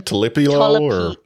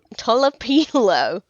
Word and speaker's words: Tolopilo: Talipilo? Tolopilo.